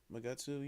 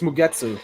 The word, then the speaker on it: Mugetsu: Magutsu. You know Oh, him? Mugetsu. Yeah, it's Mugetsu.